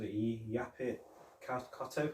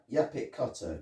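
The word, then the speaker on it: Yaphet Kotto: And then, because obviously, he was Yapit Kotto, that was his name. I think that's how you pronounce the name. I think that, Yapit Kotto.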